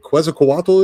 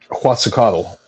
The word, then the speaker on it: Quetzalcoatl: I'm see if I hope I pronounce this right. Is it Quetzalcoatl? Is? Do you know who that is? Quetzalcoatl. Quetzalcoatl.